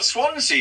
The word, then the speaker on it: Swansea: Now, did you know Swansea? We've got a place called Crumbles here, so I know. I feel your pain. Well, Swansea is the only place name in Britain that rhymes with Fonzie.